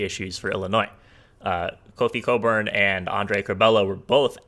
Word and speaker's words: Cockburn: kind of didn't happen cockburn's kind of yeah but coburn is definitely definitely the best player on this team cockburn cockburn i've i've heard i think it's actually pronounced coburn i know but but